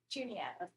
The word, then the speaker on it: Juniata: Juniata. Oh, it is a hard J. It's like a JJ.